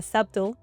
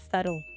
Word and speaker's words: subtle: Hay gente que la pronuncia subtle y no es así, sino la palabra es subtle.